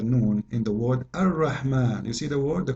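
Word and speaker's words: الرحمن: alif very short, but you hear me pronouncing the alif. Ar-Rahman. Ar-Rahman. This is not a fatha only, it is a letter.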